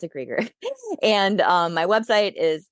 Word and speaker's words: Krueger: I'm krger but it looks like Krueger it's with one L and then Krueger but you pronounce it creger and um my website